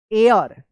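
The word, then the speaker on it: heir: आर यू E true एयर एच ई आई आर क्या होगा एयर इसको हियर मत पढ़िएगा एयर पढ़ेंगे एच यहां पे जो है ना साइलेंट रहेगा ऑफ दिस विलेज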